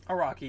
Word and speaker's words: Araki: And Greg Araki, is that how you say it? Araki, yeah.